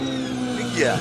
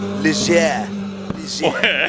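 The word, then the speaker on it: Ligier: Ligia. Ligia. A little French, a little French spice.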